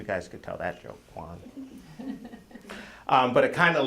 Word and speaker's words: Juan: a name yeah okay very very much like John it's Juan um so you guys could tell that joke Juan um but it kind